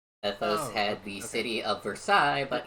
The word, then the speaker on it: Versailles: Ethos had the city of Versailles, but he pronounced it Versilis because he knows that irritates me.